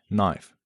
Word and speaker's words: knife: Silent K and knee, knife, and no come from Old English, where the K was pronounced.